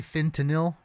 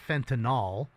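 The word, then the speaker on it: fentanyl: Say Fentinil. Fentinil. It's not fentinol, right? It's Tylenol. It's not fentinol. It's fentinil, right? Am I saying it wrong? It's fentinil. Fentinil. Pretty sure I'm saying it properly.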